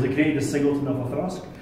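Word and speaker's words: Auchroisk: And that distillery was Othrusk. So, for those of you who don't know this distillery, it's A is spelt A-U-C-H-R-O-I-S-K. Oh. So, Othrusk. Oh.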